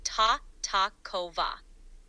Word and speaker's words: Tartakower: The correct pronunciation would be ta-ta-kova. The emphasis is typically on the second syllable.